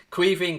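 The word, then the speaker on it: Caoimhín: first name in because only irish people really understand how to pronounce it properly for those of you that don't know queen kelleher basically means kevin kelleher it's just the irish word for kevin um he is going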